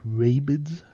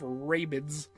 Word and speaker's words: Rabbids: You mean rabids? Raving Mayro? Rabbids. That's Hey guys, you like rabids? I love- Wadham? Man, I love Rabbids.